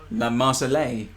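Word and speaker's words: La Marseillaise: like i said use the french national anthem la marsali oh okay you pronounced it correctly well i don't know that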